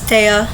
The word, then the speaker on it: Tea: you pronounce it as tea as in like thea but without the h i know that's confusing